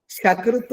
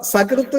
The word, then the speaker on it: സകൃത്: ശകൃത്ത് എന്ന് പറഞ്ഞാൽ മലം എന്നർത്ഥം. അപ്പോൊ സകൃത്ത് എന്ന് ശരിക്കും ഉച്ചരിക്കാതെ ശകൃത് ആരെങ്കിലും ഉച്ചരിച്ചാൽ എന്താവും ഇങ്ങനെ സംസ്കൃതത്തിൽ പദങ്ങൾ ഉച്ചരിക്കുമ്പോൾ വല്ലാതെ സൂക്ഷിക്കണം.